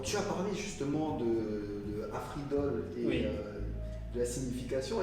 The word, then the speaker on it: Afreedoll: Afridol, donc avec cette écriture un peu spéciale, c'est un mélange de free, comme la liberté en anglais, et Afri, en fait, cette prononciation pour appeler en fait l'Afrique. Et Doll pour signifier la poupée, mais au fond, en